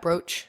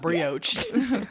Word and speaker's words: brooch: How do you say that? Brooch. Brooch. Right? Okay. Yeah. It's not brioche.